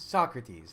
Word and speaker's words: Socrates: so I can't say so crowd these Socrates that's it that's how I've been taught to pronounce it I guess if that